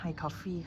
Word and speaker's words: hayycoffee: ของ ร้าน เข มา เขา บอก ว่า เขา อ่าน ว่า High Coffee ค่ะ น่า รัก มาก